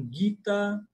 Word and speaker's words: Gita: As pessoas falam gita, alguns falam guita, mas lembrem-se do Raul Seixas. Ele ele cantou muito bem. Guitar, guitar guita.